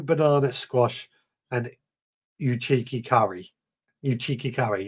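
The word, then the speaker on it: Uchiki Kuri: Uchiki curry, that's how I'm pronouncing it now.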